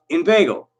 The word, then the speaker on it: inveigle: Say inveigh, nay, but inveigle. Make the latter rhyme with eagle, but it doesn't.